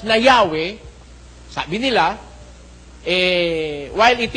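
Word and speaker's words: Yahweh: na ang pangalan ng Diyos eh pino-pronounce na Yahwe. Sabi nila eh while it is almost if not quite certain that the name was originally pronounced Yahwe this sabi nitong mga nag-translate nito this is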